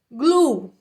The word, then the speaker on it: blue: séries anteriores provavelmente né Blue tá a gente não pronuncia o e no final só não é glue eglo termina que com o bem forte blu blu significa cola cola Blue